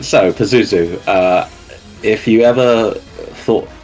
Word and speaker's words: Pazuzu: now move on to Pazuzu that is in fact how you pronounce his name apparently just says so this will be covered